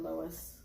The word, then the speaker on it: Loews: at portofino bay uh it's one of the lows or is it lowest i don't know it's lowest they pronounced at lowe's yeah the lowest hotels